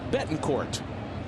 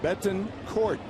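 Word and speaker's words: Betancourt: And we all this time have known his name to be Bettin Court, just as it's written out almost phonetically. Hard tea. Hard tea. Betton Court.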